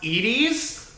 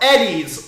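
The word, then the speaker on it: Edy's: Do you think that this is pronounced Edie's, like a good person, or Eddie's, like a psychopath?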